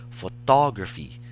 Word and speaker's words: photography: And for this word, the stress is no longer in the first syllable. Rather, it's in the second syllable, which sounds photography. We do not say photography or photography. So the Chinese language's shengdiao